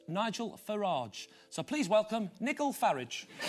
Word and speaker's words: Farage: the former broker, Thatcher supporter and leader of UKIP, who likes his name to be pronounced Nigel Farage.